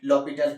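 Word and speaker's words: L'Hôpital: ये जो है ना एक फ्रेंच वर्ड है, ठीक है, इसलिए फ्रेंच के लोग जो है एच और एस को नहीं बोल पाते हैं, इसलिए उसको क्या प्रोनाउंसिएशन करते हैं लॉपिटल करते हैं।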